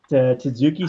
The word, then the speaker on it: tzatziki: With like tzatziki sauce. How do you pronounce tzatziki?